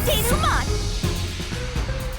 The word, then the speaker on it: denouement: Time for the deduction denouement!